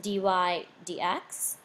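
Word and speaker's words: dy/dx: It's pronounced dy dx.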